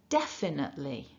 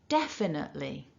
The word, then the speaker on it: definitely: all back together then remember we're stressing syllable one repeat after me nice and loud definitely again definitely so let's talk about